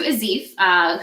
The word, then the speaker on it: Aziph: Is that how I pronounce it? That's perfect. That's perfect. Azif. Okay, we're talking to Aziph, who I have met through LinkedIn and the power of networking.